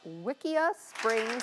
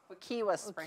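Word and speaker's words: Wekiwa Springs: of Wickia Springs, Florida. Did I say it right? You say it right, guys? No. Wickia. Wickia Springs. Wickia Springs. There we go. The Floridians have corrected me.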